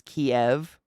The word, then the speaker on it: Kyiv: Oh, it's like the Russian pronunciation of the city Kyiv was Kiev. So therefore pronouncing it Kiev was kind of, solidarity with Russia, and calling it Kyiv was solidarity with Ukraine.